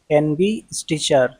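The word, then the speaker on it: investiture: आई एन वी ई एस टी आई टी यू आर ई एनबी स्टिचर एनबी स्टीचर means अलंकरण समारोह या आधिकारिक रूप से सम्मान सौंपने का उत्सव।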